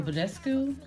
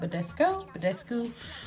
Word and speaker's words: Badescu: I think you guys have seen me talk about the rose water spray from this brand, Mario Badescu. I believe that's how you say it, Badescu.